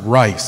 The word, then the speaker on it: Reese: I would correct, just my last name is pronounced Rice.